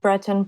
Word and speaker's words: Breton: To touch on Breton Properties, am I pronouncing that right? Yes, you are. Breton Properties.